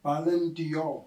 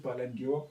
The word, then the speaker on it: Ballon d'Or: Ballon d'Or. Palandio. Yeah, You yeah. saying it wrong. It's actually not Palandio.